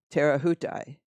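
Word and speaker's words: Te Rehutai: i also like uh dogzilla's phonetic pronunciation of that boat which is terra houtai and i i think a lot of people are just calling it tay ray see spray sea spray tay ray hutai tara hutai how i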